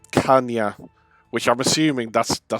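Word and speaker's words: caña: I'm just having a quick look so it's pronounced kanya which I'm assuming that's the salad he says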